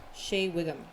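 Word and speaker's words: Shea Whigham: Shay Wigum.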